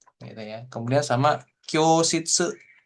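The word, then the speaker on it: 教室: Kemudian sama Kyoshitsu, Kyoshitsu. Jadi cukup O-nya dibaca, U-nya nggak usah. O-nya panjangin dikit.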